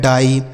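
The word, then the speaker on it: die: जैसे डी से हो गया ड। इस आई और ई का उच्चारण आई हो गया डाई।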